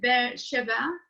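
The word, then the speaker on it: Be'er Sheva: have a problem with this word uh in bear shabbat in israel and she's a lecturer have i pronounced it right yes you do oh good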